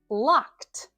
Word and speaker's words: locked: But between these three verbs, we either pronounce the ed ending as a d or a t. Grabbed. Grabbed. That's the d ending. And locked. Locked. That one has the t ending.